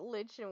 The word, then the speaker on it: lichen: As this lichen, whatever the fuck the pronunciation of that fucking I usually say lichen, but lichen works too, because that's the way it's spelled.